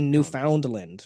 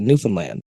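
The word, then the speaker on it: Newfoundland: n well like we we also don't say New Foundland right like there's an entire Province we don't call it New Foundland you call it newfinland right like no just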